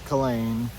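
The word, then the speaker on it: Culzean: it'll spell it'll it's spelled Coine. Coine, but it's it's Colleen.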